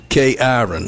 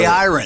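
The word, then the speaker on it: Cyrin: K-Iron is how it's spelled. K-Iron. Yes. It's C-Y-R-I-N.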